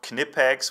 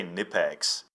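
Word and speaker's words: Knipex: about three years ago and yes it's called Kinney pegs with a K but I guess it's okay to say new pegs it just sounds better at this company known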